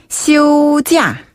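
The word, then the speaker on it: 休假: 중국식 발음은 시오지아. 휴자, 시오지아. 휴자. 네, 잘하셨어요. 이때 시우란 단어는 네. 휴가 할 때의 휴자고요. 그다음에 휴자. 그렇죠. 쉴휴자. 찌아는 뭐 거짓 가짜도 되지만 이 휴가 할 때 가짜 바로 중국식 발음 휴가. 찌아라고 합니다.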